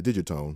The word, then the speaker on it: Digitone: electrons new FM synth The Dig atone or as I like to call it the digit tone because I'm all about the soft G I'm gonna turn this